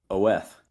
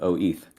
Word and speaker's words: OETH: the case that uh if you were to really pronounce that word it would be oth instead of O eth but I lost that